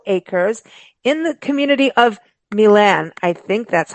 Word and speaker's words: Milan: and and it is is it Milan mil it's Miland yeah mil you said my yeah I think a